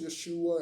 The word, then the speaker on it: Yeshua: It is true that there was no J in their Hebrew language and therefore their name was spelled with a Y and it is pronounced Yeshua and it is not Jesus.